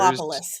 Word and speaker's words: Megalopolis: Megalopolis.